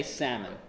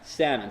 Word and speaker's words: Sahlman: question show of hands who would like me pronounce it sawing we would like to say salmon alright salmon wins I will go with salmon this class alright that's probably